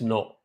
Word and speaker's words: know: KNOW is no. NO is also no.